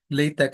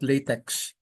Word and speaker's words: LaTeX: the latch latch code you pronounce it as latek and not latex okay so it's very